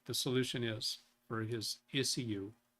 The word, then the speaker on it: ECU: And therein lies a clue as to what I think the solution is for his ECU. I know most people pronounce it issue.